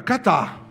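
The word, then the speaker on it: κατά: grego ela também significa catá com K que indica o movimento com significado de ir para baixo Cat que é assim que se pronuncia no grego significa uma ação de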